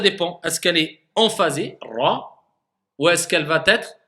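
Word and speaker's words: راء: Et on va pas avoir le ra parce que certaines personnes roulent trop le ra. Non. Et certaines personnes ne roulent pas du tout. Non. Voilà. C'est-à-dire on le roule un tout petit peu, le ra, mais très légèrement.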